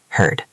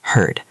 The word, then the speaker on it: heard: H-E-A-R-D, heard. Notice the pronunciation at home. It sounds like herd, like a group of animals. Yes, heard.